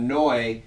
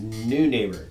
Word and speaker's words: Neunaber: kind of crazy because I would have thought noi NE like uh one of our favorite bands noi but it's not it is new neighbor so they make some